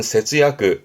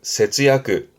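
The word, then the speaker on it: 節約: 발음은 세즈야그, 세즈야그.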